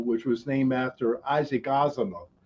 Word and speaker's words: Asimov: was named after isaac asimov i always got that name wrong as a moth whatever and uh after